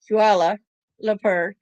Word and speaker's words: Kuala Lumpur: I said it right a while ago, Kuala Lumpur, to obtain information about